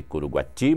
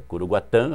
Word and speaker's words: Curuguaty: Está aqui um livro que o programa Voz do Trabalhador recomenda para você, Curuguatã, está aqui Curuguati, mas é Curuguatã, a pronúncia correta, não é isso? É. Que é tupi-guarani.